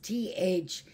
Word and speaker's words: thetes: Now, these rowers of the trireme are called, or of the navy, are called thetes, T-H-E-T-E-S, but pronounced thetes.